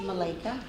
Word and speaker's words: Malakah: But before I begin, my name is pronounced Malika.